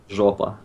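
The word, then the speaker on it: жопа: Jopa.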